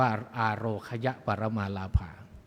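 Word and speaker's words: อาโรคยา ปรมา ลาภา: คือ อาโรคยะ ปรมาลาภา นะ บาง ท่าน ก็ ไป อ่าน ว่า อาโค อโรคยา แยก กับ จะ แยก กับ ปรมา ออก จาก กัน หรือ จะ เป็น คำ เดียว กัน น อ่าน ว่า อโรคย ปรมาลภา เรา มัก จะ แปล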